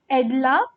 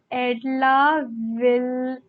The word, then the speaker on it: Edla: It is Edla. Oh my god, it is Edla Wilmanson, right? That is how they spell it.